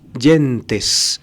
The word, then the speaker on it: gentes: y gentes en plural lo pronuncian a la Italiana James yentes en plural las gentes